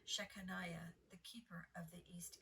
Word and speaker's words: Shechaniah: After him repaired also Shemaiah, the son of Shalakiah, the keeper of the east gate. I'm sorry, I pronounced that name wrong. Shechaniah, the keeper of the east gate.